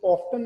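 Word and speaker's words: often: इसमें आप इसको दोनों तरह से प्रोनाउंस कर सकते हैं. वो जो नेटिव स्पीकर्स हैं ना, वो मोस्टली टी के साथ प्रोनाउंस करते हैं, वो ऑफ्टन इसको प्रोनाउंस करते हैं. इसमें अलाउड दोनों ही हैं, ऑफन भी ठीक है, ऑफ्टन भी ठीक है.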